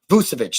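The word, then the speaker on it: Vučević: So if you're able to get Nikola Vucevic, I can never pronounce his name right. I'll call him Vooch. Vucevic. Vucevic, there we go.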